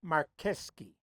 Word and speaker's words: Marcheschi: all Mares over there a lot of people say that sounds more polish than Italian but it's spelled Chi not sky so what